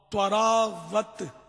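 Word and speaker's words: طراوت: جیسے وہ ہم تراوٹ بولتے, تراوٹ تو اصل لفظ توا سے ہے, توا, تواراوت, تواراوت, آخر میں تے ہے لیکن شروع میں توئی ہے, تو تواراوت یعنی تازگی.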